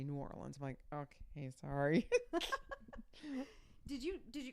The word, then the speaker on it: New Orleans: we're gonna go to nollans Norland they don't even say it that way down there I said it once they looked at me like I was like I'm sorry because I said is that how you say it like she just looked at me with this disdain look no we say New Orleans Mike okay sorry did